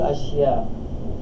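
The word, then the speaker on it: أشياء: Ba'dul ashya'.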